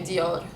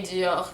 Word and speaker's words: Dior: with the french but a lot of lebanese will say dior with the rolling r i can't roll my arse i know shame on me for being for speaking arabic and being an arab and can't can't roll my arse shame on me i can't rule my arse um i never managed to but they will say it with the dior dior with the rolling r at the end but i i say jio because i mean this